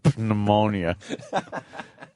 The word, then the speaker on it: pneumonia: The P is silent.